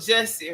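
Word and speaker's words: Jussie: No, I'm saying in that picture he resembled Jesse Rhymes with Tussie.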